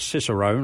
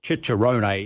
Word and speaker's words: Cicerone: Like we're talking about, under the I'm a certified Cicerone, or Cicerone is the correct Italian pronunciation of it.